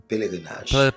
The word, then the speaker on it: Pèlerinaj: Am I pronouncing this right? Pèlerinaj.